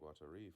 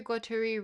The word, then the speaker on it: Guattari: Pretty sure Guattari rhymes with Atari. No, Guattari. Unless you're saying it Atari. Like a French person would say Atari.